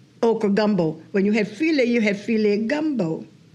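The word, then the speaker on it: filé: When you had filet gumbo. And that's F-I-L-E with the accent on the E, else it would be foul.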